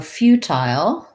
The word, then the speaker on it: futile: So futile, I believe we can say futile with the I sound, like it sounds like few, with first syllable stress, tile, which would sound like this, the same as few, or you could rewrite it like that to make sure you get the y glide, few, and then tile,